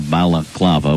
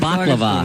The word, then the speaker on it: balaclava: You pronounced it right, though, right off the bat, which I was impressed with. He's been working on it all morning. First he called it baklava.